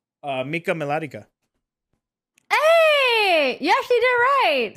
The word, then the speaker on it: Mika Melatika: one of my favorite things okay can you pronounce my full name uh Mika melodica hey you actually did it right um yeah that's all right A lot of people pronounce it Mika molatica melatika yeah sound like a character from Lord